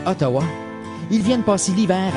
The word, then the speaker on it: Outaouais: Leur nom est prononcé Ottawa.